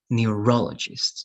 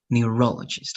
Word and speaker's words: neurologist: if it's psychologist right then it's going to be neurologists okay so the stress has to be in this part neurologist let's repeat that one